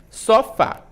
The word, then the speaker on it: sofá: Sofá. Qual é a sílaba tônica? O Fá, né? O Fá, muito bem. É uma oxítona? É uma oxítona, porque a última sílaba é a mais forte.